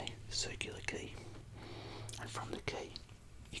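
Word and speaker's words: Quay: the fairies leave from a circular ke ke is spelled q ua y so have you come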